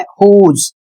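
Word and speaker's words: whose: नीचे कुछ शब्द हैं हुज इसमें भी डब्ल्यू साइलेंट है।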